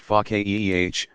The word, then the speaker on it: faqih: Such a scholar is called a faqih, pronounced faqih, one who understands deeply, because